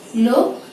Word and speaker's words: লক্ষণ: এবং শব্দের শেষে থাকে তাহলে প্রথমে কয়ের মতো তারপরে ক্ষয়ের মতো উচ্চারণটি হবে। আমি শব্দটি লিখে দেখাচ্ছি, লক্ষণ, লক্ষণ। যক্ষ, উচ্চারণটি হয়েছে প্রথমে কয়ের মতো তারপর ক্ষয়ের মতো, যক্ষ, লক্ষণ।